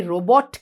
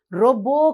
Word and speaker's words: robot: අපි robot කියලා කියනවද? නෑ. මෙතනදි පුතේ T අකුර silent T එකක්. T එක අපි ශබ්ද කරන්නේ නෑ. රොබෝ කියලා තමයි අපි කියන්නේ.